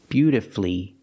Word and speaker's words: beautifully: But with words like these, masterfully, beautifully, and wonderfully, you have two syllables before F-U-L-L-Y, but the stress is on the first syllable. In this case, the U is silent.